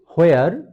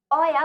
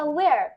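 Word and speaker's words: where: ও আচ্ছা, তাহলে কারণ ব্রিটিশরা ভাওয়েলের পরে যদি আর থাকে তাহলে ব্রিটিশরা আর উচ্চারণ করে না।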